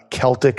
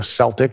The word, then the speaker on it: Celtic: Also check out, there's an incredible version from a group called Celtic Thunder, or Celtic Thunder, if you want to mispronounce it.